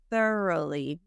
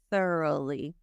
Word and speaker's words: thoroughly: the balloons came up thoroughly thorough thoroughly the GH is silent the o u is just like a u so forth but once